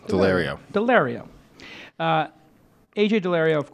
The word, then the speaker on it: Daulerio: which is AJ delario am I pronouncing it correct delario yes it is delario delario uh AJ delario